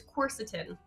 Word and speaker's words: quercetin: i pronounce it is quercetin course is him got it you're just putting the emphasis on a different syllable stuff of course the